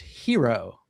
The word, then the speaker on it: gyro: The G is like a Y over there in Europe. So, but I'm here in the United States, so I'm going to say gyro.